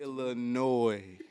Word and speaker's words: Illinois: a conversation with somebody stop adding that s it ain't supposed to be it's it's supposed to be silent it's not even really supposed to be that Illinois Illinois no B I